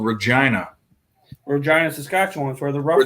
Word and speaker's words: Regina: There's a place called Regina. Regina, Saskatchewan, for the Rough Riders. Regina rhymes with vagina.